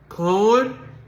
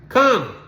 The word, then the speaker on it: Corner: corner corner is is pronounced two syllables corner corner corner like a street corner Conor walk up son kind